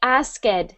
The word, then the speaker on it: asked: For that word asked, when you were reading, we heard asked. So sometimes when we have a verb in the past tense, we use just a little T sound.